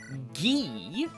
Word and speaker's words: Guy: Uh first is to send a force down here, recruit Guy. Yeah, that's how it's pronounced. Guy, not Guy. Apparently, it's French.